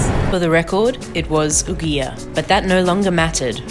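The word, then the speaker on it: ouguiya: in where i never actually learned how to pronounce the currency for the record it was ugia but that no longer mattered we were about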